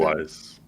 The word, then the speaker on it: Mogwai: How do you pronounce it? Mogwais.